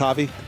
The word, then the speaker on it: Javi: Okay, it's pronounced Javi.